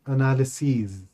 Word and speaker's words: analyses: The plural of analysis is and it is pronounced as analyses.